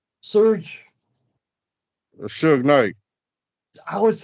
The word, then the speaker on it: Suge Knight: Suge Knight. I was Shignat.